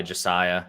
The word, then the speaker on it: Josiah: I think I'm just gonna go by Josiah. Yeah. Okay. Yeah. I mean, what's the point? It rhymes with Messiah too, which is basically.